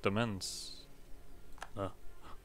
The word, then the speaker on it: Demesne: Because that's how we're gonna form the Black Demons. That's how you pronounce that.